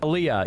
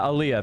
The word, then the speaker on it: aliyah: Aaliyah. Yeah, Aaliyah. Thank you. Aaliyah. I can never pronounce that What you got to understand about Ethan and Destiny, they're the same guy.